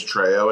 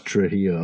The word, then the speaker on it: Trejo: His name's Danny Trejo, and his character's name is Trejo in this. Okay, I thought it was Trujillo.